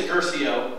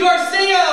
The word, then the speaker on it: Guercio: that's rare um so my last name is gerso uh and most people get it wrong because it's spelled wrong it's gu r c iio so hosts all the time are like give it up for Garcia ladies and gentlemen and then